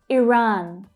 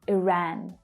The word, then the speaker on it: Iran: Iran, or some native speakers will say Iran. So the second syllable is where the stress is. The vowel sound might be slightly different. Iran, Iran.